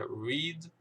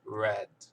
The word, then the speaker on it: read: O verbo ler, ele tem a mesma escrita, tanto no presente como no passado, porém a pronúncia vai mudar. Presente é read, passado é read.